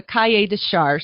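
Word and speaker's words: cahier des charges: learn, you pull up what they call the cahier de charge. It's spelled CAHIERDES, You pull that up, and it gives you all the regulations on what makes Tavel the Tavel.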